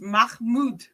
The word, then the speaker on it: Mahmoud: You have to swallow the H. Sure. Mahmoud. Mahmoud? What is it? Mahmoud. Mahmoud. Spell it. Mahmoud. Mahmoud. Mahmoud. It's Mahmoud. Okay, good.